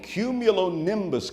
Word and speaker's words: cumulonimbus: And it is from a cumulonimbus cloud that tornadoes are born. Cumulonimbus, 5 syllables.